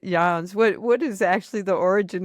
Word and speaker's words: Jans: Technically, but my husband's family, it's his name, pronounces it Jans because they've been in the States so long. Uh-huh. That does sound very American, Jans, but my mother is Dutch, so that's why I went ahead and pronounced it Jans.